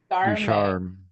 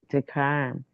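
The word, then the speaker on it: Ducharme: Darm Ducharm. Darm. Hello. Hello. Yeah, I have a ch in my name that throws people off.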